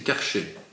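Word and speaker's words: קרשי: Donc, Karché s'écrit avec EI. C'est-à-dire, Karché, c'est Kof, Resh, Shin, Yod. Mais le Yod ne se prononce pas. C'est Karché.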